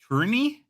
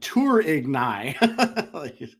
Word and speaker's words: Tourigny: Okay, I'll try it because I think it'll be funny. Andre, I got that part. Tourigny? That's as best as I could do. I would be like Tourigny. Tourigny? One something there in between.